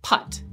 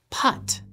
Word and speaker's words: Put: Abraham's servant a name putt p-u-t apparently pronounced like the golf stroke get it putt Dan thought for sure that the Bible had not given the servant a name in Genesis 24.